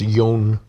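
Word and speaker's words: Jonn: J-O-N-N. I need to see that. John Swiftflight. Again, it's pronounced Yon.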